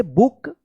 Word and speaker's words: book: जब double O रहता है तो इसका उच्चारण ऊ होता है, तो BOOK, बुक। I read a बुक।